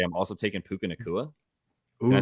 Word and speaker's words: Puka Nacua: And just say I'm also taking Puka Nacua.